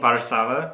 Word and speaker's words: Warszawa: Well, it's like we call it Warsaw, but it's not Warsaw, right? It's like something. Warszawa. I could never think to pronounce it like that.